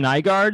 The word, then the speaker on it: Nygard: got matt gill and nygard is that how you say your last name that is how you say my last name i've always wondered that